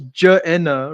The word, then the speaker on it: Gehenna: So in the Semitic language, there is no g syllable. This is largely pronounced j. So, if it was ja'ena, right?